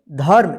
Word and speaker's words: धर्म: तो इस रेफ का उच्चारण जो है ना इस ध के बाद आधा होगा, र। ठीक, तो क्या होगा, देखिए यहाँ पे ध म रेफ है, तो क्या होगा, धर्म।